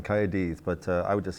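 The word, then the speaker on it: Cymru: cardiff oh cardiff well the welsh is coyotes there's a lot of spitting going on coyotes but i would just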